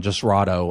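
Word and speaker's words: Jasrado: Chism is another one just righto I think is how you say his first name let me make sure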